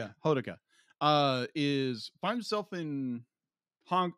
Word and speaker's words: Hodaka: So Honoka is... Am I pronouncing it? Honoka? Hodaka. Hodaka. How I've been pronouncing it. Yeah, Hodaka.